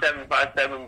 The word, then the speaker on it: 757: yeah so it's pronounced 757 boxing like the area code that we're in which is about to